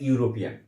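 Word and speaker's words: European: আমরা সাধারণ নিয়ম অনুযায়ী জানি যে যদি ভাওয়েল থাকে তাহলে আমরা অ্যান ব্যবহার করি, কিন্তু এখানে ই আর ইউ মিলে যেহেতু ইউ এর মতো উচ্চারণ করছে, তাই এখানে আমরা এ আর্টিকেলটিকে ব্যবহার করব।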